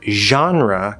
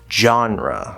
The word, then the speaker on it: genre: it at the start the word genre can also be pronounced genre with the j sound which we'll talk about